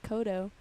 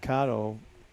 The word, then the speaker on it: Cotto: say every time yeah my last name is actually pronounced Cotto Cotto yeah really so why are you telling me that now just now I don't know I've been saying kado I know Cotto everyone says cado but I've gotten used